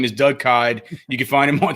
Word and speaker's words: Kyed: Oh, well, I should say his name is Doug Kyed. You can find him on Twitter at Doug Kyed. That's spelled like, what's it spelled like? It's spelled like died. Yeah. Dyed. Kyed.